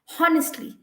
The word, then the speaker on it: honest: silent letters in words for example honest h-o-n-e-s-t but a lot of people i have heard say honest honestly he's a honest man no the word is only honest okay and that is